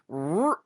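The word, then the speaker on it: R'hllor: It's R''HLLOR. Roar.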